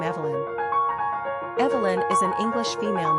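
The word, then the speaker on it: Eibhlín: have also borrowed Evelyn from the Irish iblin pronounced Evelyn which is the Gaelic rendering of the old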